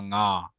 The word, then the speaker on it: ঙ: ন বললে আবার ন নাসিকা ধ্বনি হয়ে যাচ্ছে। ন হ্যাঁ, ঙ, ঙ, ঙ। অর্থাৎ এন জিটাকে আমরা ন যেভাবে উচ্চারণ করবো, এন জি, ঙ।